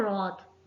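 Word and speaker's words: wrath: Right में W silent आता है। अगला वर्ड है रॉथ।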